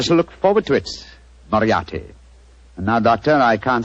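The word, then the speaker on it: Moriarty: it or mispronounce it I'm afraid I'll have to begin calling it the way it looks m o r i a r t y mariati Mar I shall remember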